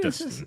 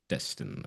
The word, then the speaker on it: Destin: Dustin. Is that how you pronounce his last name? Destin. Destin or Dustin? Destin. I'm pretty sure it's Destin.